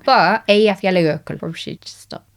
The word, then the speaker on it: Eyjafjallajökull: should say, I think I know how to pronounce that volcano that did a load of smoke. Eyjafjallajökull. I'm not going to look it up because I don't want to know I'm saying it wrong. But Eyjafjallajökull.